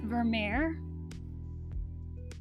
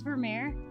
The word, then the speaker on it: Vermeer: that like pronounces words it says that the american pronunciation is vermeer you guys probably won't be able to hear it because i don't want to make it too loud accidentally but yeah it says vermeer but it does also have oh just a british pronunciation i'm surprised it doesn't say dutch or something since i guess that might be where it's from okay british pronunciation is basically the same vermeer interesting but then i